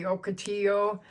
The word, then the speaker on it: Ocotillo: That's my Ocotillo, which is really, if you pronounce it correctly, Ocotillo.